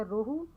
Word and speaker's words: روہو: یہ ایک لفظ ہے روہو, اس کا تلفظ لکھا ہوا ہے رو ہو, یہ مؤنث ہے اور یہ ایک قسم کی مچھلی ہے.